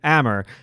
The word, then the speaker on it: Amr: say by the way you pronounce his name hammer because for at least